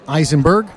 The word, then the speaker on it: Eisenberg: Susan Eisenberg.